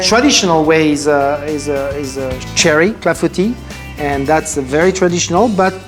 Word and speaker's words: clafoutis: So today, the recipe, another French lesson that we are going to do, apple clafoutis. Perfectly pronounced. Clafoutis.